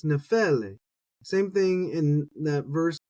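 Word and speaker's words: νεφέλη: I want to say nephele, anglicize it, but it's nephele. Same thing in that verse, nepheles. And we keep going. Luke 12:54, nephelein, and you see none of them really falling on the first syllable.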